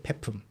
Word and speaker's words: 폐품: The pronunciation is not 폐품. You don't have to try to sound it like 폐. It's 폐품. Okay, 폐품.